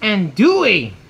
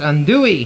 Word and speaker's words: andouille: It's pronounced andouille. Oh, andouille? It's my last name is, right? Yeah. So it's andouille. Andouille. Yeah. No, it's in American. It's pronounced andouille.